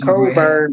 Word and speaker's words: Cockburn: And Courtney, y'all pronounce it Coburn, but it says Cockburn on the damn thing.